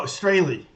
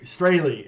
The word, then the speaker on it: Strahle: We don't learn surname rhymed with Ace Frehley. Oh, Frehley. No, Strahle. Ace Frehley. Strahle, actually. Strahle. Oh, Lee. Yeah, Ley. Yeah, and in German it's Strahle.